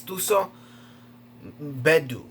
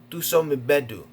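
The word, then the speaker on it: Thuso Mbedu: It's hard to pronounce because I guess she's African. Her name is Tuso Bedu. Tuso Mbedu.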